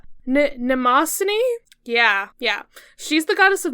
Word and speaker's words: Mnemosyne: So, let's see if I can pronounce her name. Mnemosyne?